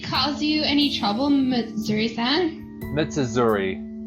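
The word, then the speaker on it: 美綴: Mitsuzuri. It's 4 syllables.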